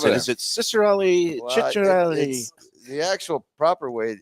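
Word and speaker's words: Ciccarelli: Panthers fan it's Dino Shelli how do you pronounce it is it cicarelli Chelli the actual proper way is CH Chelli is over the years over the years playing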